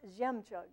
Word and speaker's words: Zhemchug: And Zhemchug, by the way, is pronounced Zhemchug. It's Russian.